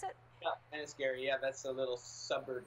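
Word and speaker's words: Enniskerry: Is that how you pronounce it? Yeah, Enniscarry.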